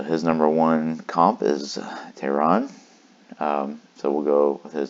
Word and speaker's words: Teheran: 2 anyway so Julio Teheran is number one it's Tehran sorry pronounce that wrong so I had some